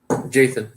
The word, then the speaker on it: Jathan: So What's just say like Nathan, like Nathan, but just put a J. Jathan. Jathan.